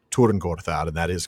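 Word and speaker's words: Tyrn Gorthad: If you watched Rings of Power, you might have heard it pronounced Turing Gorthad.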